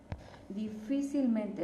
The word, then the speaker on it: difícilmente: La palabra difícilmente sería una palabra sobre esdrújula. ¿Por qué? Porque es hasta la cuarta sílaba, ¿verdad?, que tiene su tono fuerte, y aparte la palabra